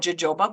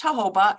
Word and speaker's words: jojoba: avocado jojoba is um some people call it jojoba but it's pronounced jojoba and it is a thicker heavier oil I